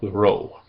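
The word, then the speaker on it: rho: in the English alphabet, is called row. And it sounds like the R in the rod. Row. R. Rod. Ro rad.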